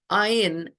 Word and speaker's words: Ayin: Ayin is also the silent letter, but originally it would have had a little bit more throatiness to it, and you can hear it more in people that are Eastern, what's called Mizrahi Jews, people that come from